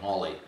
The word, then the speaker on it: Halley: to me that the hawley's comment but you know actually i asked people in cambridge and they said almost certainly holly pronounced his name that way because paul was fall